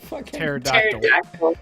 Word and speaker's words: pterodactyl: Cuz the P is silent.